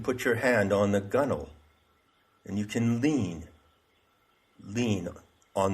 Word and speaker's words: gunwale: And that's called the gunwale. Gunwale. W-A-L-E. It's pronounced gunwale.